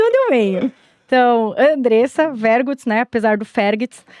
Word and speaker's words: Vergutz: Aí ela ligou e tava lá no F, procurando Fergits e não encontrava. Porque se escreve Vergots, mas ela é alemã, só falava alemão e ela tava no Fergits e não encontrava o telefone lá de casa.